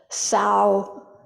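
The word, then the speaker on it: Caoshan: Sozan, the teacher in this story, is also known as sorry, I have to pronounce it right, Shaoshan, and he was the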